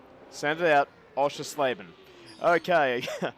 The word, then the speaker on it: Oschersleben: he could not pronounce the name it is pronounced osha slaven chris osha slaven send it out osha slaven okay i'm saying that because i know he's